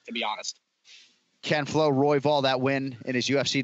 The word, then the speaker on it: Royval: brandon roy bell and that's how you pronounce it i'm always now second guessing roy ball roy ball royval roy ball roy vaughan got it roybal um his last fight